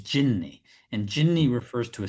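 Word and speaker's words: جني: But genie is actually a mispronounced. It's like an anglicized pronunciation of an Arabic word, which is jinni.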